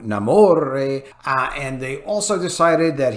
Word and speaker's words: Namor: Yes, they changed the pronunciation to Namor, and they also decided that he has to be a colonizer or whatever to get in their agenda stuff.